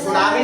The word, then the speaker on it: सुनामी: एम I very good T एस यू एन ए एम आई सुनामी लेकिन टी क्या है silent होता है ठीक है ना सी